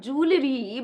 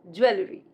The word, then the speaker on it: jewelry: It's not jewelry, but jewelry. Jewelry.